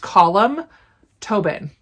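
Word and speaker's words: Colm Tóibín: by col toy bit I heard this pronounced column Tobin I think I'm saying it wrong Tobin I don't I think maybe this eye is almost silent column interesting anyways this is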